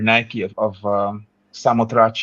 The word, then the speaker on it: Nike of Samothrace: But the Winged Victory, if you look up that sculpture or Nike of Samothrace is the way it's pronounced, but she's got wings almost like an angel.